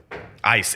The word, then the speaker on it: Eis: What is Ice. It's spelled EIS. Okay. But it's pronounced ice.